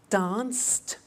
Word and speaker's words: danced: at that watched danced eliminate the E pronounce the T danced laughed washed and walked